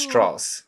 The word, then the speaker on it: Strauss: actually did know about Lis Strauss and it's pronounced Strauss yeah okay um sorry my my my my